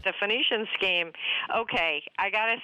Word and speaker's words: Phoenician: How do you pronounce this? The uh not Phoenician scheme. Am I saying that right? You said it exactly right. The Phoenician scheme.